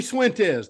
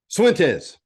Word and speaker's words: Cifuentes: So the way I do it is if you say the letter C or yes in Spanish, C, but my name starts with